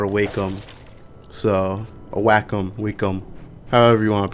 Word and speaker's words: Wacom: Wacom, so a Wacom, Wacom, however you want to pronounce it. I say Wacom. I don't know why I said Wacom the first time, but yeah.